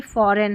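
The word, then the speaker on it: foreign: आई का फॉरेन में यहां पर जो जी एन दे रखा है लास्ट में यह जी साइलेंट है फॉरेन में।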